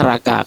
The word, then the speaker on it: Racah: Tulisannya Racah tapi bacanya Raka. Jadi dia orang Itali, Giulio Raka ya.